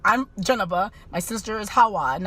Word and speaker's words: Jeneba: India, if they see that word, they're gonna pronounce it Kamala. It's like, I'm Janaba, my sister is Hawa, and I have another sister is Adama.